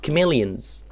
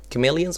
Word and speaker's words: chameleon: Chameleons خد بالك من pronunciation بتاع الورد ده كويس جدا لأن CH هنا is pronounced as k sound. CH هنا k مش ch. غلطة شائعة جدا الناس بتقولها chameleon. لا هي chameleon.